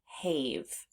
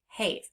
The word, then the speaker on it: have: So we would actually expect this word to sound have. Have. But it doesn't. It's have which means the silent e is the unexpected part of this word because this word does not represent that long a sound that we would expect.